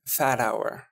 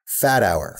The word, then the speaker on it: Fathauer: Fathauer. Fathauer. Fathauer. Yeah. Fathauer. Yep. Okay. So the with the H is silent essentially.